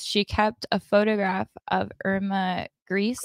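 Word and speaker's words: Irma Grese: kept a photograph of Irma gree is how you say it a female SS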